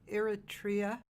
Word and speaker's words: Eritrea: So Eritrea, is that how you say it?